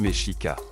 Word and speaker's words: Mexica: Le peuple que nous appelons aujourd'hui les Aztèques se désignait lui-même sous le nom de Mexica, prononcé Mexica.